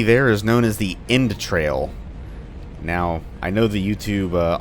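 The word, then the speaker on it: Endtrail: mess that up because you just say in trail like intestines but it's spelled with a d at the end of n so e-n-d-t-r-a-i-l they are a member of the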